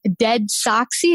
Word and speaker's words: DeadSoxy: You went from working as a farmer to building a Dallas-based company, DeadSoxy.